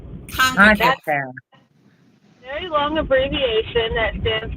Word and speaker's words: CONCACAF: So Emma, the tournament that just happened for the women's national team, how do you pronounce it? Is that the federation that the United States belongs to is Concacaf. Concacaf.